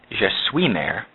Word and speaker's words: je suis mère: Actually, in the French, the correct pronunciation would be je suis mère, like this.